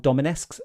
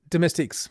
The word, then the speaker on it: domestiques: They're called Dominiques. Dominiques. Domestiques. Domestiques. Dominiques. I got that pronunciation.